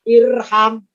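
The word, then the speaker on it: ارحم: Kalau huruf ketiganya fathah, alifnya tidak ikutan fathah, tapi tetap kasroh. Maka bacanya irham.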